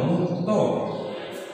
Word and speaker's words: মুক্ত: যুক্ত ব্যঞ্জন ভেঙে রাখার ক্ষেত্রে শেষ ব্যঞ্জনের অয়ের উচ্চারণ সম্মিলিত হবে। যেমন মুক্ত, মুক্ত উচ্চারণ হবে ময়রস্য মুখ তয়কারে তো, মুক্ত।